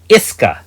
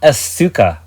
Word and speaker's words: Iska: 10th pull revealed a 4.5 Iska, not Asuka, my love. Oh, I guess I know how to pronounce it now.